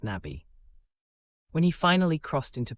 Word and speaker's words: Nabi: In his place stood Nabi, pronounced Nabi.